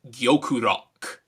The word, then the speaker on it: Gyokurock: locked on target now in japanese l's and rs are often confused and they're pronounced somewhere in the middle therefore it's gyokurok while kolomaru and aqua